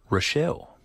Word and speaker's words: Rachel: No, it's pronounced Rochelle. Rochelle. But it's spelled Rachel with an E.